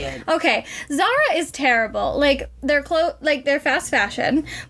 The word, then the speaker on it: Zara: So if you've ever been shopping at the mall, and there's a certain store that starts with it rhymes with Sarah. Honestly, you can just say it. Okay, Zara is terrible.